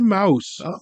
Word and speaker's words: Mius: actually went online before we came, and it's Yeah. actually Mouse. It Okay. is actually Mouse, based on the German and the Dutch.